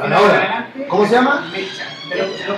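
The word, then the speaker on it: Mechta: Mecha. Lo pronuncié ahí en Mecha. Mecha. Mecha. Como una mechada, pero más corta.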